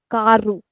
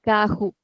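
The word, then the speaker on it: carro: So this is called ku. So in European we might call it as ku but mostly in Europe and in Brazil both the countries we generally call it kahu.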